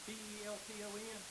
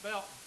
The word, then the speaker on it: Belton: not from around here, people pronounce Belton with the T? Belton? Where are you from? I'm from Belton. But if you're not from, if you're from around here, it's Belton. I don't even think there's a T in Belton.